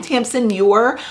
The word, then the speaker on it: Tamsin Muir: Gideon the Ninth by Tamsin Muir, I think is how you pronounce her name, Tamsin Muir.